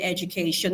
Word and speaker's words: education: Now, the stress rule in English says when a word ends with shin, that is io n. When a word ends with shun, you stress the penultimate syllable, which would mean that the stress is right here where we have k. That's where the stress for this word is.